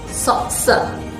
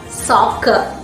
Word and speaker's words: soccer: should be pronounced as satsa but we pronounce this word as soccer both the letter c in this word takes a single k sound this is one of